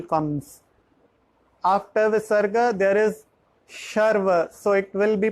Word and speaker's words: शर्व: There is sarva, then there is a sh, sarva sharva.